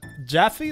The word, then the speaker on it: Jaffe: Sean Pembroke for $6.99 says, it's for making us listen to Jaffe. That's how you pronounce David it.